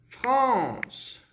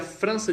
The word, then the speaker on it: France: Como que a gente pronuncia França no francês? Pessoal, percebam aí a grafia. F-R-A-N-C-E. Beleza? France. Então, o AN no francês, muitos alunos erram, porque eles acham que a gente vai pronunciar de forma igual ao português, que é França, né? Com o Rzinho ficaria France. Não, o AN no francês, pessoal, ele vai ter um som como se fosse o, on, France, beleza?